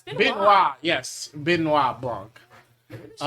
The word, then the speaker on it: Benoit: It's Benoit, yes.